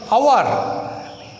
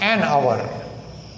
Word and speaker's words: hour: Now in case of hour, an hour, H-O-U-R, though the word hour begins with H letter, the first letter, but it is pronounced as hour.